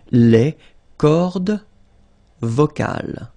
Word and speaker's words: cordes vocales: So you can notice that as usual in French, you've got this mark of the plural at the end, S, and then S here as well, but you don't pronounce them, okay?